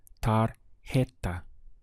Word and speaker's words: tarjeta: una tarjeta de Navidad notice we have the strong H sound here tar heta what's the verb to